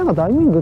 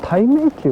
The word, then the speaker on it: 大明宮: Je pensais aussi que c'était Da Ming Gong parce que tout le monde l'appelait Da Ming Gong, mais en japonais, cela s'appelle Taimeikyu. La prononciation des caractères chinois est un peu différente.